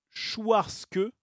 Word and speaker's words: Schwarzke: PS, ça se prononce Schwarzke, mais bon, ça me fait toujours rire un écorchement de pseudo déjà écorché et modifié.